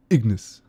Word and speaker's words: Ignis: literally just forgot it Ignis yeah you have to say it like that Ignace world eaters release when